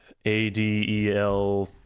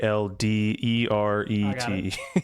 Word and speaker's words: Alderete: Adelete. Excuse me, Alderete.